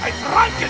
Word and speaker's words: Frankenstein: Fate attenzione franken frankin il mio nome si pronuncia Frank Ci troviamo all'Arcobaleno film Center di